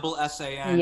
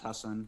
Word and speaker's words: Hasan: They go sometimes HASSAN. Yep. But the part, in Southeast Asia where my family's from, it's pronounced Hasan.